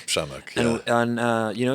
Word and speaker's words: Przemek: and your name is shamik shamik and uh you know it sounds like like a name you would see everywhere but if you see it in writing it's it's intimidating to pronounce that right yeah yeah